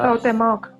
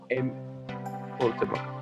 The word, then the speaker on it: Cuauhtémoc: Es uno del autor Carlos Cuauhtémoc, no estoy seguro si se pronuncia bien así. Sí, es Se eso. llama Cuauhtémoc. Cuauhtémoc.